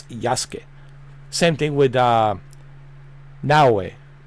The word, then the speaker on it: Yasuke: Yaske. Uh that's how the Japanese pronounce uh Yasuk. I know it's it sounds on English like Yasuk, but it's Yasuke.